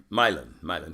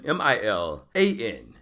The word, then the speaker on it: Milan: Milan. Milan. M-I-L-A-N. Milan. Spelled exactly like Milan. Pronounced extremely differently.